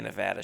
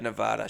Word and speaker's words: Nevada: She didn't say Nevada. She said Nevada. She doesn't know that that's how you're supposed to pronounce it.